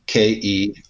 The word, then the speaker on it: Kereliuk: We're just going to jettison the I, and if you can't pronounce that, you got an issue. So it's Kelly, like a girl's name. Kelly. Yeah, Kereliuk.